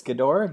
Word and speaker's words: Gador: me okay and and I am saying your name correctly right it's gdor gdor yeah and actually I was